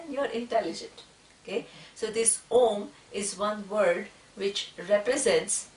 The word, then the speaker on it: Om: intelligent okay so this om is one word which represents okay the iswara it has three three syllables a w and M okay so one word